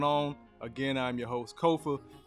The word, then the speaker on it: Kofa: again I'm your host Kofa k-o-f-a now coffee not Khufu not Kofi or any variation thereof Kofa rhymes with sofa easy to say easy